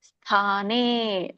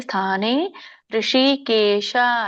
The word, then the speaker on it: ಸ್ಥಾನೇ: ಇದರ ಒಂದು ಉಚ್ಚಾರಣೆ ಅರ್ಜುನ ವಾಚ ಸ್ಥಾನೇ, ಸಕ್ಕೆ ದೊಡ್ತಾ ಇದೆ, ಸ್ಥಾನೇ ಋಷಿಕೇಶ ತವ ಪ್ರಕೀರ್ತ್ಯ ಜಗತ್ ವ್ಯಂಜನ ಇದೆ, ಜಗತ್ ಪ್ರಹರ್ಷತ್ಯ ಅನುರಜ್ಯತೆ ಅಂತ ಹೇಳ್ತಾರೆ.